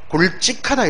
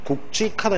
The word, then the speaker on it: 굵직하다: 그러면 이거 보통 우리 뭐 경상도 쪽에 남도 쪽의 사람들은 굵직하다 이렇게 발음하죠. 아, 그놈 참 굵직하다. 틀렸다. 그러니까 입이 익은 이런 발음이 바로 오용사례라는 거예요. 그러니까 이건 표준 발음이 어떠냐 하면 대표음이 기역이기 때문에 국, 그리고 발음상 기역, 비읍 이런 폐쇄적 구조이기 때문에 다음 음절의 무성음은 된소리로 나옵니다. 국지, 다음에 여기 축약이 되겠죠. 국직하다 이게 표준 발음.